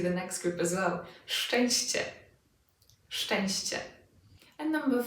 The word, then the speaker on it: szczęście: And with szczęście, cie, szczęście. Again, cie, szczęście.